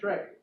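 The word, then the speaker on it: Schreck: his daughter uh Zena Shrek like Zena Warrior Princess yeah and then the word Shrek like the big old green dude from the movie but it's spelled different all right uh why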